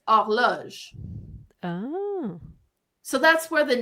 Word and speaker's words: horloge: And clock in French is pronounced horloge.